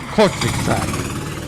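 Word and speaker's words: Kortrijk: to belgium to kortrik cortex that's actually actually how we pronounce it because mr gregory laporte the 2008 champion told me how to pronounce this so i got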